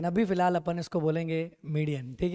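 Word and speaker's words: median: ये मीडियन बोलते हैं। क्या बोलते हैं इसको? मीडियन। आपकी हो सकता है प्रोनाउंसिएशन सही हो, पर वो यूरोप में चलेगा, यहाँ नहीं चलेगा, है कि नहीं? हम फिलहाल हिंदुस्तान में रहते हैं तो हमें मीडियन ही बोलना पड़ेगा।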